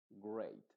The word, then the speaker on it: great: es como una excepción normalmente la e a nunca se pronuncia como ei excepto en estas palabras y en estas estos derivados de estas palabras principales que son break stake Great o sea lo que